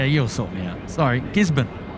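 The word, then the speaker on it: Gisborne: Gisbon like Melbourne. Not like not Gizbin, but or Melbourne, but Gisbon.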